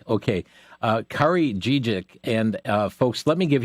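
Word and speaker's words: Kari Dziedzic: I hope that I'm able to pronounce her name correctly. I believe it's Kari Dziecic. Yeah, Dziecic. Okay. Kari Dziecic.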